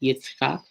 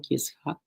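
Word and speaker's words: יצחק: But if you are learning Hebrew along with us, the name is Yitzchak. If you're going to try to pronounce that, yeah, sounds like Yitzchak.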